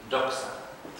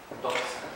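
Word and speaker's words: δόξα: Doxa. Doxa, D-O-X-A.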